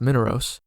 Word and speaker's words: Minauros: The third layer, Minauros, or perhaps it's pronounced Minauros, is a giant stinking bog.